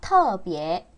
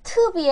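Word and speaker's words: 特别: 터비에. 터비에. 이거 왜 따라 하냐면, 어떤 분들은 이 발음 자꾸 트비에라고 해요. 제가 누구라고 말하지 않겠어요? 투비에 하면 안 돼요.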